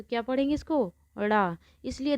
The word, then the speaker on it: ड़: देखिए, ये ड़ा में जो नीचे ये बिंदु लगा है, अगर हम इस बिंदु को हटा देंगे तो ये किसका काम करेगा?